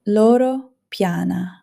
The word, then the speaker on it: Loro Piana: And pay attention to how it is actually pronounced, won't you? Loro Piana, Brunello Cucinelli, Hermès.